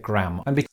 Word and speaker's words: graham: except it's square and Americans pronounce it gra.